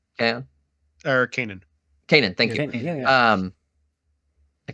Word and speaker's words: Kanan: to see a young the guy from Rebels, Kaon. Kaon? Or Kanan.